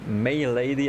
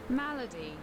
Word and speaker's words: Malady: gonna just talk to May Lady. I probably mispronounced the name, so I want to make sure that check her name again. My Lady. Yeah. What? It means disease? Are you kidding me? Malady.